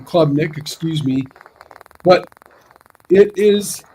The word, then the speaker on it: Klubnik: And Clay Kubnik, he is that guy. You give him a little time, he is a good quarterback. Klubnik. Yeah, Klubnik. However you pronounce his name. Klubnik, excuse me.